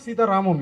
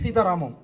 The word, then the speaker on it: Sita Ramam: Okay, why it is not Sita Ram? Why it is Sita Ramam? That's what you are asking, sir? Oh. Okay, okay. Sir, Ramayanam, how will pronounce, sir? In Ramayanam only, no? Ramayanam. Mahabharatam. You'll sound it like Bharatam. So whenever the ending of that defines like it's the story belongs to that.